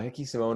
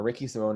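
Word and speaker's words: Ricky Simón: uh hickey simone or ricky simone i'm actually not sure i've heard both pronunciation because he is brazilian um and so you do say hickey for some but other people call him ricky um so ricky simone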